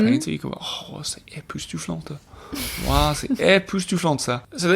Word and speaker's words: époustouflant: You can still have an époustouflante experience. You don't pronounce the T. Époustouflant.